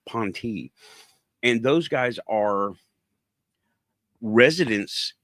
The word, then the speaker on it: P'NTI: Spelled, it's in the description right now, P''NTI, pronounced PON-tee.